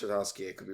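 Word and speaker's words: Tartakovsky: But I know like the Samurai, like if you don't know who I believe it is pronounced Tartovsky.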